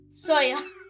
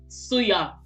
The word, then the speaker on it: Suya: Soya. It's not soya. Soya milk. Soya is for milk. Suya. Suya. Suya.